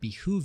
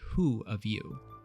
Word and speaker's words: behoove: When giving direction, a drill instructor may remind recruits that it would behoove you to listen closely, which is also frequently mispronounced or typed in written orders as it would be who of you.